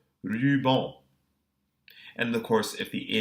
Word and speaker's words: ruban: Final AN also has a post-vocalic N, which is silent. Ruban.